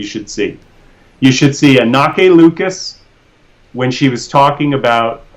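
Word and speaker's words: Anneke Lucas: Anake Lucas. It looks like Anarchy, but it's pronounced Anake. Anake Lucas.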